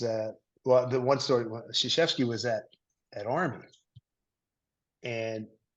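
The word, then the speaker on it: Krzyzewski: think it was uh well the one story sheski was at at Army and we later know that we learned that his name is pronounced shashy but at that point you know all right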